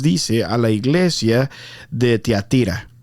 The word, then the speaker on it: Tiatira: un mensaje Dice diciéndome no se dice tía tira o o tía tira s yo no s aquí le vamos a decir tia tira Pero podc se escucha